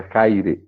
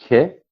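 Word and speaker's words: χαῖρε: bissílaba, tem duas sílabas, Here, e é uma palavra que é paroxítona. Então, a penúltima sílaba, e primeira no caso, é a sílaba mais forte.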